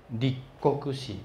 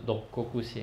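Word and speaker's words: 六国史: 史，啊，这六国史的读音呢比较特别一点哈，立国史不是六国史哈，立国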